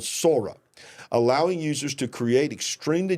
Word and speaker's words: Sora: It's called SORA, but it's pronounced SORA because SORA is the way you would say it in Japanese. It is based on the word for sky. SORA means sky or heaven.